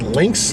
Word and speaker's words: LKAS: lane keep assist system how do you say this is links links okay which is better than